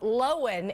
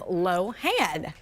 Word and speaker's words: Lohan: She places the emphasis on the first syllable. Stressing the O instead of the A. So Lohan instead of Lohan.